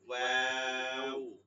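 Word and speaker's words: واو: বন্ধ হয়ে যাবে, হ্যাঁ, ওয়াও, দুই ঠোঁট গোল হয়ে যাবে, ওয়াও, হামজা, এটাও এই গোল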